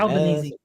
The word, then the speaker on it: Albanese: Albanese.